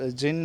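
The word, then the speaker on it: djinn: His wits and, कि जिन जो है वो भी परेशान हो गया। जिन देखो यहाँ पे DZINN। ठीक है, इसको हम बोलते हैं जिन। यहाँ पे डी जो है साइलेंट होता है।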